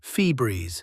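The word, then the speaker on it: Febreze: You pronounce it Febreeze, like it has 2 E's, but it doesn't.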